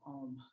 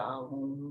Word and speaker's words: Om: pronunciation is Om.